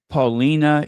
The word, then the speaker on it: Paulina: So if you hear someone from Chicago say Devon Avenue, it's actually Devon. But just like in New York, they call Houston Street Houston Street. Well, we have our own pronunciation. Um, Devon is Devon. Paulina is Paulina. Seriously, that is the Chicago pronunciation.